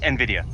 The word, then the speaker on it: Nvidia: know how to pronounce I believe it's Nvidia because when it says um you know the way it's meant to be played thing comes up because she says Nvidia so it's envidia but I like Nidia